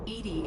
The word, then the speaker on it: EDI: is a jar why are you named Ed Ed is the phonetic pronunciation of Eed that is an acronym for